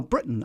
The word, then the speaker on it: Britain: we' we've discussed that one button Britain now Britain I you see I'd say Britain as oo as opposed to Britain Great Britain I wouldn't say that I go Great Britain and you can hardly hear the tea at